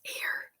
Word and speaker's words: air: the term water is air air Indonesia I guess that they're saying the word for water in Bahasa Indonesia is a i r like pronounced like the word air the world record for